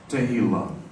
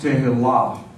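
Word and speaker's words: Tehillah: But it's pronounced, it's not pronounced Tehila. It's pronounced Tehila. Say Tehila. The accent is on the last syllable.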